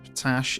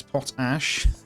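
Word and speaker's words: potash: I've been called out on my pronunciation of potach. It's pot ash.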